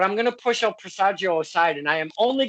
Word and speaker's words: Presagio: Some people come into the Prego. Presagio. I say, oh my God, how hard is to say Presagio? It's because the pronounce is way different than Spanish.